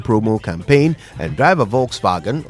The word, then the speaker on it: Volkswagen: campaign and Driver a Volkswagen or let me say it properly Volkswagen Harry while stocks last